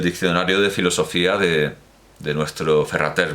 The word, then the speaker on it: Ferrater: de filosofía de nuestro ferrater mora o ferraté moral a ferrater mora rate a la catalana que no se pronuncia la r pero bueno nuestro ferrater